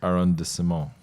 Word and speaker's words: arrondissement: I was pronouncing it wrong. It's arrondissement.